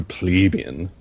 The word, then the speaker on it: plebeian: Like a true plebeian. And that's how you pronounce it. Plebeian. So don't sound like a plebe and say pleb.